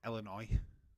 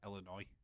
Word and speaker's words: Illinois: When I see something, it's like Illinois. Illinois is how it's written, but you say it's Illinois. It's just weird. Your pronunciation is different to how it's spelt, so that's what gets confusing.